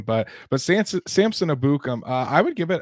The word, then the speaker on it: Samson Ebukam: their next guy here Samson abukum and that is how you say his name I heard him say it now it's Samson abukum abukum okay we got